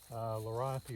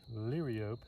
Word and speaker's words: Liriope: Some people say Liriope, some people say Liriope, and you know, I won't say one's right or one's wrong, but I prefer Liriope because I think that's truer to the Greek method of pronouncing Greek words, or actually Latin words.